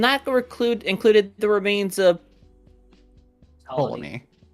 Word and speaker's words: Ptolemy: Ptolemy. Say again? The P is silent. Is it? Yes, Ptolemy.